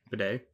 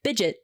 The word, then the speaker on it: bidet: How do you say this word? Bidet. Oh, okay. It's actually the Biden. A. My brain was like, since I'm reading on camera, my brain was immediately like, bidget.